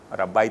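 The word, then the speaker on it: rabbi: यहूदी धर्म में सबसे पहले एक मज़ेदार बताऊं कि एक रब्बाई सिमलाई करके हुए हैं, रबी सिमलाई, रब्बाई तो वो ब्रिट प्रोनाउंसिएशन है, पर रबी सिमलाई करके हुए हैं।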